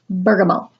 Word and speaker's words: bergamot: Bergamot, or if you wanted to be proper, you would say bergamot, because it's pronounced bergamot, all right?